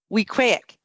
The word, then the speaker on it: Weequahic: here I go Camp Weequahic there you go you got it I got it it rhymes with mosaic yes Cole tell us